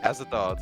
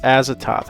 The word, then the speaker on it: Azathoth: Next we have is this Azathoth. Azathoth. I had to go look and see how to pronounce that. Azathoth.